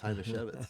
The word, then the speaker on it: Hajnasiewicz: spell your name and I know how to pronounce it it's h to chevit yes do you still know my do you